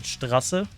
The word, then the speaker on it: Straße: But like written out like this, you would pronounce it Straße. So it's... whoops. Heavy metal German lesson. So it's written like this because the thing is like a sharp S.